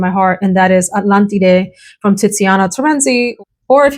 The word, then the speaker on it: Atlantide: These two are battling it out for first place in my heart, and that is Atlantide from Tiziana Terenzi, or if you just want to use the American pronunciation, Atlantide.